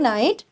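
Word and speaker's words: night: को मैंने बताया था जी एच ये जी एच की कोई साउंड नहीं होती ये साइलेंट हो जाते हैं अपने इस वर्ड्स के अंदर अगर ये वर्ड के बीच में हो तो ये साइलेंट रह जाते हैं गुड नाइट अब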